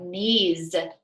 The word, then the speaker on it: knees: Okay, how about knees? Knees. Where would that go under? Knees. Z, that's right. And it's spelled K-N-E-E-S. Oh no, again, we have our S sound that sounds like a Z.